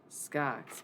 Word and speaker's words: Scox: Scox, man. Doesn't rhyme with Cox for no reason.